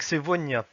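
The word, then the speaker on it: сегодня: On commence avec sevonia. Donc là, attention, on a la lettre G qui se prononce V. Pourquoi elle se prononce V? Parce qu'elle est entre le E et le O.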